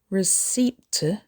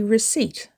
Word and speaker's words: receipt: Don't say receipt, say receipt. It has 2 syllables with the stress on the second syllable. Don't forget to keep your receipt. The P is silent, it's not pronounced.